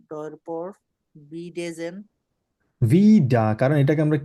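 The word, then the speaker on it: wieder: For example এখানে ভিডা, আর এর কিন্তু উচ্চারণ কিন্তু এখানে একদমই হয়ই না, আমরা আর এর উচ্চারণ বলিই না, তো তার মানে যে আর এখানে নেই ব্যাপারটা কিন্তু তা না।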